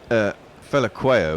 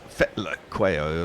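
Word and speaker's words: Phehlukwayo: Well, Fela Quayo, as we call him, is Fetla Quayo or something, isn't it? There's a T sound in there, even though there's an L.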